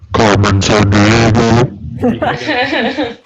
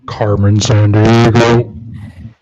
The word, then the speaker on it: Carmen Sandiego: said Carmen Sandiego, and that's not how you say that. You have to say it like the last guy in Rockapella at the end of the theme song, where they go, "Where in the world is Carmen Sandiego?"